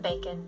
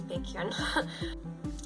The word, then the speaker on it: Baekhyun: Fans like to call him Bacon just because it's funny. See his name spelled out. It is not pronounced bacon that way, it's Baekhyun.